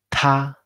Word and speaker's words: 他: Ta. Genial. El tono es pleno, muy alto. Ta.